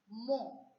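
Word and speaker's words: mot: Because in French, we have a rule that the last consonant which is appearing after the vowel remains silent.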